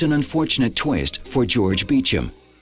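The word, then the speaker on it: Beauchamp: But there's an unfortunate twist for George Beecham. His name doesn't look anything like it's pronounced.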